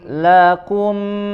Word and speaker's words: لكم: لكم دينكم ولي دين Ya, lakum, laku, ku, keluarkan angin sedikit saja. Lakum, kum, ya, kemudian huruf mim jelas di sini, ya, bertemu dengan huruf dal, izhar bacanya, dijelaskan.